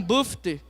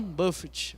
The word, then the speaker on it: Buffett: Warren Buffy. Buffett, como que fala? Como que pronuncia quem entende aí de inglês? Warren Buffett.